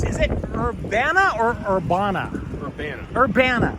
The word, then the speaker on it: Urbana: Urbana. Urbana. Urbana's how it's pronounced, yeah.